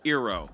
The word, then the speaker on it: Eero: okay so Amazon purchased ero and I'm pronouncing the ero because if you want to spell your name that way that's how I'm gonna say Hiro is a San